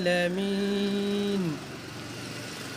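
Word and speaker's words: العالمين: আইন ভিতর থেকে নিতে হবে, উচ্চারণ করতে হবে ভিতরে, গলার নিচ থেকে।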